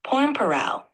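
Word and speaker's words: Pormpuraaw: don't know it's a place the word is pronounced porn paral you're doing great keep going pn paral a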